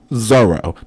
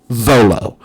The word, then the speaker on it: Zoro: One favorite character, Zoro, not Zolo. Where's the L? His name is spelled with an R.